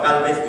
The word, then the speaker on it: Gálvez: un español de España, porque al pronunciar su nombre ya vemos que es Bernardo con la R de España y con el Gálvez de la Z de España.